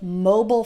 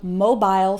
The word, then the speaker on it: mobile: That's also why you'll hear both mobile phone and mobile phone. Which is correct? They're both correct. It's just a slight pronunciation difference.